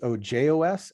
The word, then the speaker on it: ojos: on the Spanish word for eyes which is Ojos and pronounced Ojos so I didn't want to correct